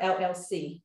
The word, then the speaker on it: Elle: It's a business, let it stand alone, okay? So Lorie Woodruff is nowhere in my business name. My business name is the L Exchange. The L Exchange, and L is spelled E-L-L-E.